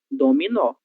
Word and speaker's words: dominó: Mas ela está na sílaba tônica, ela está na sílaba mais forte dessa palavra. Então, ela deve ser pronunciada com o som de o dominó.